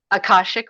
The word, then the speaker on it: Akashic: Akashic Records.